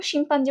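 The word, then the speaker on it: chimpanzee: তো এখানে দেখো শিম্পাঞ্জি বানানটা সিএইচআইএম, শিম, এইটুকু একটু খেয়াল করবা, সিএইচআইএম শিম। এমনি নর্মালি শিম বলতে গেলে এসএইচআইএম বা এসআইএম দিলেই হইতো, বাট এখান থেকে একটু অ্যাটিপিক্যাল টাইপের, একটু খেয়াল করবা।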